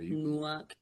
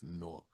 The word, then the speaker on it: Newark: See, you ain't even saying it right. Newark. It's not like it's Newark. And y'all no, it's Newark. Like you would say pork or fork.